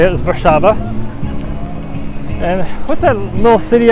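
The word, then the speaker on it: Warszawa: so that's how you actually say it is bashava and what's that little city i like that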